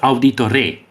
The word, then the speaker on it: Auditore: This is Auditore.